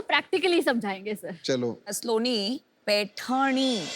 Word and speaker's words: पैठनी: स्लोनी, पैठनी, वो जरा प्रोनाउंसिएशन इनका चेक कर दीजिए.